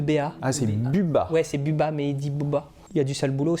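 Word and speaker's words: Bubba: il a deux généraux nokia bots bas qui s'écrit bu2 béa à céline du biwetz et biba mais dit bouba il ya du sale boulot c'est lui qu'on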